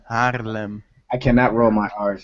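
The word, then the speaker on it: Haarlem: Oh, Harlem. No. No, you're not pronouncing it right. Harlem. Harlem.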